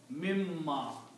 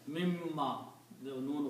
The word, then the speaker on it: مِمَّا: When you read these together, you will pronounce mimma. The mim sound, the noon sound will go away and mim is pronounced twice. Mimma, the noon gunna.